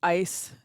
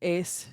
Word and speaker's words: aos: sometimes as a es can be pronounced anywhere from like ice to Ace depending on the dialect and which type of